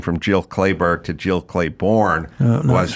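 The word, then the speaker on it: Clayburgh: 70s yep and maybe I always thought Jill clayberg was Jill Clayborn I just mispronounce it the whole time wow this revelatory well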